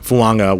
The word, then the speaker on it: Fuaga: found him in Taliese Fuaga, which, by the way, Talese is the name, Fuaga with a light N sound at the end there.